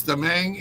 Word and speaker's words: DeMang: We have the amazing JJ Hardy, podcast host, leadership coach, author, and DeMang. Yes, there's a lot more letters than what I'm pronouncing, but it's DeMang, and he is with, it's going to be a tricky one, folks.